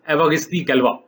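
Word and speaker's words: Évariste Galois: अब मुझे फ्रेंच तो नहीं आती, लेकिन ये मुझे पता है कि ये जो सही प्रोनाउंसिएशन है इसकी, ये है एवागिस्ती गैल्वा।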